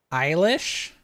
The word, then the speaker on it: Eilish: say Billy Elliot how do you say that Billy Elish I don't know it's just youtube auto-playing Eilish oh okay I'm doing it I'm gonna do